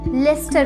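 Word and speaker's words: Leicester: ये लाइचेस्टर ही है, लेकिन जब हम इसे प्रोनाउंस करते हैं तो ये लाइचेस्टर नहीं लेस्टर बन जाता है। जस्ट लाइक अ नेम, किसी भी नाम की तरह ये लेस्टर बन जाता है, ना कि लाइचेस्टर।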